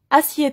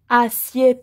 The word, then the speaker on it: assieds: une chaise par exemple assieds toi attention on ne prononce pas le d et e s assieds toi pour vous asseyez